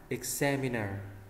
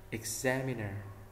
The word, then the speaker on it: examiner: thứ ba examiner examiner X mình không đọc là âm âm x ha Mình đọc là âm yig x đúng không x không phải là x mà là x exam không phải là exam mà là exam examiner là giám khảo